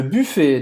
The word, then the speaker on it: buffet: Faz a boca do U e fala I. Buffet. E esse T no final não vai se pronunciar, como em português.